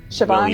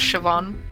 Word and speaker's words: Siobhan: I'm pronouncing their name, Shoban or something like that, yeah. Siobhan. It's usually pronounced Siobhan.